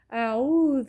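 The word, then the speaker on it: أعوذ: ریش باز کرده میشه اعوذ بگوی تلفظ کنی با من اعوذ عین است و سطح حلق ادا میشه اعوذ همزام از اول حلق اعوذ اعوذ بالله من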